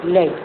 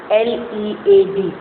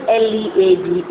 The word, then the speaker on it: lead: you people is that this word is pronounced as lead. There is a word having same spelling, L-E-A-D. उसको हम pronounce करते हैं लीड a life, जिंदगी गुजारना. But this is a mineral. So the pronunciation of the mineral L-E-A-D is lead, not lead.